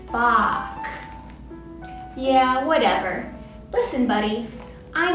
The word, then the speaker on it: Bach: composer of all time ah batch great to see you my name is pronounced bach yeah whatever listen buddy